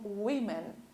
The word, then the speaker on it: women: O plural, além de nós trocarmos a letra A pela letra E, a gente vai trocar a pronúncia também. Fica como women, ok?